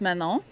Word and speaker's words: Manon: Try to say it French. I think you maybe don't pronounce the last end. We're going to go with Manon.